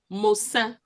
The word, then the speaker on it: Mosa: So in Moses, what you get is Mosa.